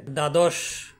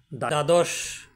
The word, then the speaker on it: দ্বাদশ: আপনি কখনো চিন্তা করেছেন দ্বাদশ দ এ ব ফালা রয়েছে কিন্তু ব ফালা কোন উচ্চারণ নেই আবার উদ্বেলিত শব্দে দ